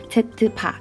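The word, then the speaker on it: z̄: 등식 어쩌고저쩌고를 만족하는 복소수 z에 대해서 z와 z바, 이거 z바라고 읽어요.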